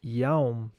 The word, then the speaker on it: Jaum: mantram Omnis Jaum Intimo, which is pronounced Omnis Yaum Intimo in English. Because the J sometimes in Spanish is a Y sound.